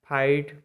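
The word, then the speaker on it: fight: H silent number five जब किसी भवेल के बाद जी एच आए तो आपका जी एच साइलेंट रहता है जैसे एफ आई जी एच टी फाइट मतलब लड़ाई एच आई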